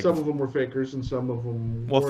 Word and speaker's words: fakir: Like, some of them were fakers and some of them weren't. Faker, Fakir. Yes, fakir, right. You pronounce it however you want.